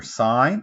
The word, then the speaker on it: sin: these are basically number sign this one's called sign of those it's spelled sin this one's called coast